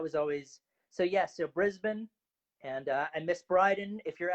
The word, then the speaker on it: Brisbane: and I know it's pronounced Brisbane, not Brisbane. So You got that right, dude.